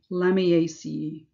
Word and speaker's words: Lamiaceae: All family names end in ace, which is pronounced as if you were spelling out the word ace, so ace. So we have the Lamiaceae.